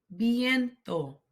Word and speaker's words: viento: Hace viento. Hace viento. The V has a soft B sound. Bien. Viento. Hace viento.